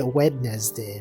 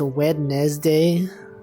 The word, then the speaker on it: Wednesday: Happy February it's like how people don't say wedness day right it's a Wednesday and yet it's pronounced wedes day kind of messed up February February look at